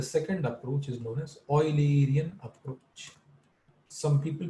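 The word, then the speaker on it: Eulerian: The second approach is known as oilerian approach. Some people pronounce it as ulerian but the actual actual is name is oiler not uler like high oiler.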